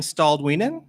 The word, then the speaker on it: Staalduinen: be that could be dangerous so stalled ween close stalled ween okay I gave it a